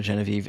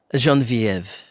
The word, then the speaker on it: Geneviève: So for those of you guys that don't know, Genevie is a comedian. Well, if you're gonna pretend to be French, at least say my name properly. Geneviève.